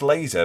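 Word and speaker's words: Leese: in the season ahead last laser pronounced laser but I didn't know that by the way this is Ian McMillan told me this apparently I've been calling him Lars Lee's for quarter of a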